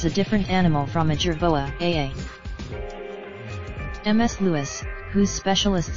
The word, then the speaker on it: jerboa: I now know it should be pronounced jerboa, but I didn't know that at the time."